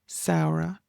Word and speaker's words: Samhradh: And then we have Arroch, Saura, For, and Givra.